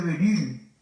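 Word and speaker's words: Bérulle: Ese oratorio lo había fundado un cardenal que tal vez han oído mencionar, se dice el cardenal de Beryl, se escribe Berulle.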